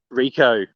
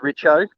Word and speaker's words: Richo: Um, it's actually a funny one if we start with the word Rico. It's a really funny one because it's pronounced Richo. Um, it's Richardson, abbreviated to Richo.